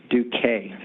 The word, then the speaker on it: Duquesne: And then Adam Ingram, who's the Business Continuity Manager from Duquesne. How do you say that? Duquesne.